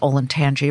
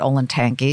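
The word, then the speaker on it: Olentangy: all of that and i learned how to pronounce things like the rivers olin tangi river not olin tanki sayoda not scioto river and i walked into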